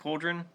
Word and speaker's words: Coldren: Is it pronounced Coldren?